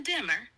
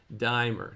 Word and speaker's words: Dymer: Let's dive into Dimmer and see what unfolds in today's canto. All right, Dimer, not dimmer, but good job.